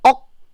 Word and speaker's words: 억: By the way, do you see K at the end here?